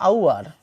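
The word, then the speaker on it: hour: যেমন এইচ ও ইউ আর, এটার উচ্চারণ যদি করি এটার উচ্চারণ হবে আউয়ার, আউয়ার।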